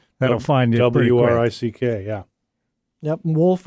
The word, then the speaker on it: Wolff: find w-r-i-c-k yeah yep wolf of a double f that's right so the the front w is silent and the back f is silent my name is encapsulated